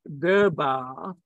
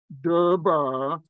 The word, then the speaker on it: Darbar: the English Hindi dictionary the word Darbar and its pronunciation durbar so no longer the normal pronunciation so in the English language this is called derba but it means the